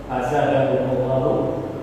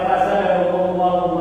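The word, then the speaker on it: فَزَادَهُمُ اللَّهُ: Fazadahumullahu, Bapak bacanya fazadahumullah, itu sudah beda antara bu dan ada. Ketika Allah bacanya fazadahumullahu maradun, maka artinya maka Allah menambahkan penyakit di hati mereka. Hunya itu Allah sebagai pelaku atau fakir. Ketika Bapak salah baca fazadahumullah maradun, diartikan itu pakai hal ya.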